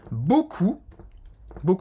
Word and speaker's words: beaucoup: Nous donnons ce cours avec beaucoup, como é a pronúncia? Beaucoup de plaisir. Porque E-A-U em francês tem o som do O. Beaucoup. O P no final é mudo.